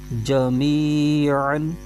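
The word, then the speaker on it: جميعا: الف مدہ ہو رہا ہے۔ اب اس کے ہجے کرتے ہیں، جیم زبر جا، میم یا زیر می، جمی، عین دو زبر عن، جمیعن، فا زبر فا، حمزہ، میم زیر ام، فَإِم،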